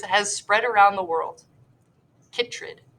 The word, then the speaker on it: chytrid: Chytrid. Ooh, I like how they provided a pronunciation there because I would have said that wrong.